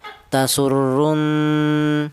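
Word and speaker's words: تَسُرُّ: Cara bacanya tasurrun ya. Ada dungnya dua harakat ya.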